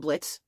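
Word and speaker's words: Blitzø: In this one, we're following an imp character called Blitz. The O is silent.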